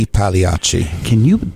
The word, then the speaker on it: I Pagliacci: I Pagliacci, or is it E Pagliacci? Do you know the correct pronunciation? E Pagliacci.